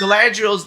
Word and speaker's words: Galadriel: in the books, Galadriel's this Galadriel.